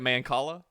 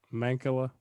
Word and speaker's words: mancala: You like Mancala? Is that how you pronounce it? I think so. How do you say it? Mancala. Mancala? Like Ricola.